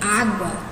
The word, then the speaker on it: água: Água. Será que água é? Não, nós acabamos de ver que não, né? A gente pronuncia o U, então ela não é.